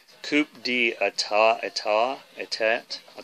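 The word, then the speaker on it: Coup d'État: to have all of theirs and this is pronounced coupe d etat I taw a tat I taught but you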